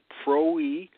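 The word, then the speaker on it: πρωΐ: distance Greek word early this word is PR WI and this pronounced Pro e Pro e is talking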